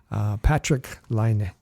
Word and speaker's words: Patrik Laine: We want to pronounce his name correctly. So Patrik Laine is how we're going to pronounce it.